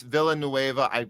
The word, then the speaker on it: Villanueva: It's Villanueva. I pronounced it wrong.